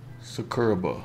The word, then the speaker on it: Sakuraba: Am I pronouncing his name right? Sakuraba.